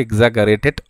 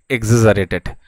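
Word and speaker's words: exaggerated: হবে কি আছে এক্সাজারেটেড এক্সাজারেটেড শব্দটি অনেক সময় এক্সাজগারেটেড হয়েও কিন্তু অনেকে উচ্চারণ করে থাকে সো একচুয়াল মানে যেটা প্রোনাউন্সিয়েশন আছে দ্যাট ইজ এক্সাজারেটেড তো এক্সাজারেটেড শব্দটির অরিজিনাল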